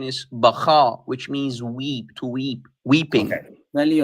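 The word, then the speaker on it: Baca: And by the way, the correct pronunciation is Baka, which means weeping.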